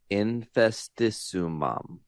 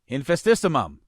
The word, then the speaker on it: Infestissumam: Infestissumam. Infestissumam.